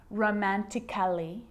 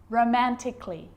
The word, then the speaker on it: romantically: with the letter A now the letter A can be silent especially in words that end in a LLY like these romantically musically logically so I'm not pronouncing romantically musically and logically cut the AR get rid of it romantically musically logically